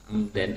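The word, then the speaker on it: عمدًا: Amdan ini disebut sebagai hal dan i'rabnya jelas kalau hal itu selalu dibaca nasab sehingga dibacanya amdan.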